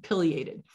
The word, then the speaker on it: pileated: this whole time i've been saying pileated um when i first learned about this large woodpecker i was down south that's how everybody down there pronounces it up here you'll probably hear the term pileated and uh when i